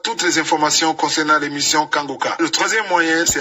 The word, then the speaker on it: Kanguka: Mais pour l'émission Kangoka sur YouTube, vous les trouverez sur la chaîne Kangoka français. Kangoka ça s'écrit K A N G U K A.